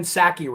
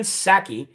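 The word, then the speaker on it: Psaki: k i right so the p in her last name is silent well the p in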